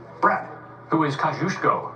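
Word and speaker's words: Kosciuszko: The smallest national park service site is a 002 acre Philly National Memorial named for this Polishborn man and rhyming with Mus Go. Brad, who is Kajushko?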